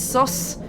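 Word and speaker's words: sos: The Irish for the word break is sus, but it's spelled s o s, not s u s. It's It's sus.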